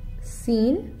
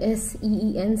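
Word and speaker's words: سين: So that's Seen. Seen. So that the English word S-E-E-N, Seen. You can pronounce it like that.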